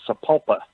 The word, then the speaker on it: Sapulpa: And it is pronounced Sapulpa. Sapulpa?